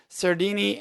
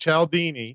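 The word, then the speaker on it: Cialdini: influenced a psychology persuasion by Robert Sir Dini and that's pronounced eldini oh I've always pronounced that wrong then so I appreciate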